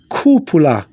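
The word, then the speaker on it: cúpula: be too strong and pronouncing the uh the little tilt on top of you so it's kupula cupula okay that's the best way to do it some people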